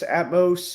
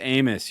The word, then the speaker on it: Amos: heard of the famous Atmos or atos cookies famus Amos you're saying it wrong Amos Amos Amos yeah have you ever